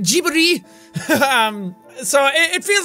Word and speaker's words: Ghibli: a Ghibli movie almost, or Ghibli, I think is how you pronounce it, Ghibli.